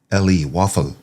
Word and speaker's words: Woffle: WOF is the actual ticker symbol, but it's spelled WOFFLE, Waffle.